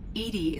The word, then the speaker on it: EDI: Edie is the phonetic pronunciation of E-D-I. That is an acronym for Enhanced Defense Intelligence.